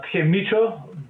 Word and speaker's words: Mico: know him as the Mico, but that's not how you say it. How do you actually say that, even though that's what we all say? It's actually called Mico, but I signed it wrongly once.